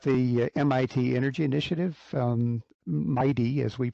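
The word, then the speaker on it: MITEI: or two about the MIT energy initiative um Mighty as we pronounce the acronym Mighty launched back in um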